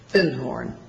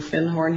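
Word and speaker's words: Findhorn: called The Magic of thorn and he corrected my pronunciation he said you mean fin horn he said our fin horn section is right down there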